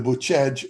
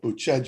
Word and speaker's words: Bucegi: beneath the Romanian Sphinx in the Bucegi or Bucegi Mountains, is how we would say it in English, but Bucegi is how they pronounce it in Romanian, mountains in Romania, beneath the Romanian Sphinx.